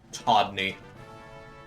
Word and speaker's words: Todney: Todney. Spelled like Rodney, but with a T.